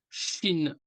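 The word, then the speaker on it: شين: marqué par trois points Chine Chine un peu comme la Chine quoi Chine nous allons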